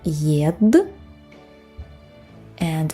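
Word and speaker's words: еда: You hear how the letter ye is pronounced like y. In fact, yeda, yeda. It's because it's unstressed. When it's unstressed, it's pronounced like e, yeda, yeda. In this case, even like y, yeda. Unstressed ye sounds like e.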